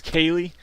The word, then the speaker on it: Callie: You can even call me Jason Callie, but the pronunciation is Kaylee. I didn't want to correct anybody, but it's my show, so Kaylee. Just like the letter K and like Bruce Lee, K. Lee.